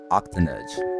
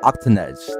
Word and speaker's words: Octanedge: talk about their video and go subscribe to Octonauts I keep saying your name wrong I first look disrespectful now octanez there you go if y'all enjoyed the video